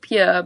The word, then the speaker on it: Puer: It's pronounced Pure, but it was a separate prison, like more